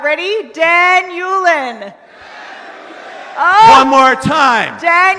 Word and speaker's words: Dan Ulin: okay all right so my name is pronounced Dan Yulan Nick can you take